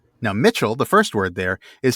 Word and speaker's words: Michel: But in old English that C particularly before certain vowels like an I or an E, is typically pronounced the way we pronounce CH.